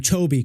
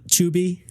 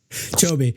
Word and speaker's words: Chobi: Chobi, correct? Not Chubi? Chobi.